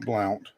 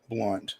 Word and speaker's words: Blount: Not Alcoa's no, not Blount. Blunt. The O is silent, I guess.